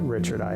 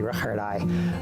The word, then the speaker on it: Riccardi: Richard I House, and the name is spelled like Riccardi, but he pronounced it Richard I, actually Richard I.